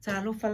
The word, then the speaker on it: Talofa: So we replace the T with the K.